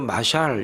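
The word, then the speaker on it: משל: 잠언이라는 말은 히브리 말로 마샬 이렇게 발음을 합니다.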